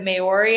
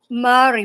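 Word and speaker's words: Māori: How are you uh how did you go from being in the is it Mayori? Am I saying it right? Mari but actually I wasn't in the indigenous tribe.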